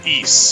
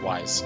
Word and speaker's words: Ys: do something like that or east sorry not wise yes i pronounced it as wise for such a long time and then in one of the voice actings in the game they were like it's east i was like oh